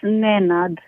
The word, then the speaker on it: Nanad: It's actually pronounced Nanad, so it's as spelled.